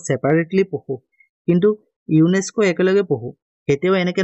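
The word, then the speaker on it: UNESCO: হোনেস নয় কিন্তু জিবিলাকে আকু আমি একে লগে উচ্চারণ করি দিব যে ইউনেস্কো আমি ইউএনএ টু ইউএনও টু ইউএন ও ও সেপারেটলি পহু কিন্তু ইউনেস্কো একে লগে পহু এতেও এনেকে ন পহে ইউএন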